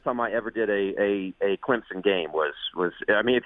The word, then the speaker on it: Clemson: But Clemson's another one because people use it as a Z, Clemson. But as you just noted, it is Clemson with an S, right?